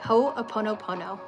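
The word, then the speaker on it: Hoʻoponopono: H-O, there's apostrophe, ho, o-pono, O-P-O-N-O, opono, and then pono again.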